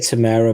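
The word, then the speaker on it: Temuera: tim timmy wearing morrison i think i said i pronounced his name timmy timmy timmy i just said tamera morrison tamara yeah i'm probably yeah there you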